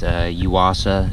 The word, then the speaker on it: Yuasa: I think it's Yuasa is how you pronounce it, the Y-U-A-S-A.